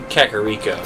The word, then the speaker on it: Kakariko: mispronounced Cocorico instead of critic rico it's actually Kakariko it's pronounced Dorito instead of guru it's actually government